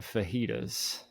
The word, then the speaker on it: fajitas: She does know it's fajitas now, but yeah, she thought the J was fully pronounced, like Fajitas.